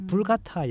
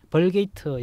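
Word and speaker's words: Vulgata: 구약을 라틴어로 번역한 이제 불가타 역이 있습니다. 뭐 벌게이트 역이라 하기도 하고요. 불가타 역이라고 하기도 하는데요. 같은 말이에요? 예. 영어식으로는 뭐 벌게이트라고 읽는다고 라틴어는 불가타라고.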